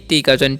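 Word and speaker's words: talk: पढ़ते हैं टलक नहीं टी काचन ट ए काचन औ कर दे एल से आधा ल नहीं नहीं नहीं यहां पर एल साइलेंट होता है ठीक है इसे पढ़ेंगे टॉक टॉक मतलब क्या होता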